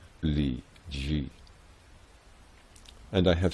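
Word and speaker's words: 禮記: front page the title Li Qi, which the head of the Chinese department of our Congressional Library tells me proper-minded Chai sinologues now think is pronounced Li Ji.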